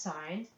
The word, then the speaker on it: sine: abbreviated as I n looks like sin but it's pronounced sine and here we write